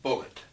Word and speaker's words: Bulleit: I look it up it is bullet and although it's spelled like it's bull a bullet right which as some